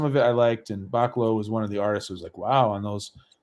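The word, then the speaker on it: Bachalo: Pronounced Bacalo. Bacalo.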